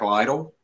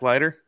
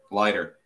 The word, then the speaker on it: Leiter: Jack Lytle. Is that how you say it? The Vanderbilt pitcher. Oh, Jack Leiter? Leiter.